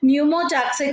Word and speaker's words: pneumotaxic: So this one is the next center, which is called P is silent here, pneumotaxic center, which can moderate the functions of respiratory rhythm center.